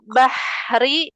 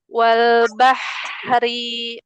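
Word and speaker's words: وَالْبَحْرِ: Wal bahri aliran nafasnya enggak ada yang keputus dia. Enggak bah ri bah ri.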